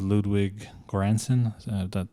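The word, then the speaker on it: Ludwig Göransson: B Jordan and well but see working with Ludwig grandson that's how you say his name like you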